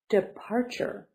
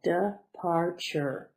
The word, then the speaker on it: departure: end of your journey departure three syllables departure stress and a second one soda up bar sure